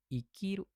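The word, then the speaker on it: 生きる: Berarti ini dibacanya I. Ikiru hidup artinya gitu.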